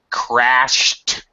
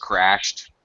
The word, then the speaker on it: crashed: Things uh okay uh crashed has the T sound with the Ed ending past tense um with the s ending crashed right makes the T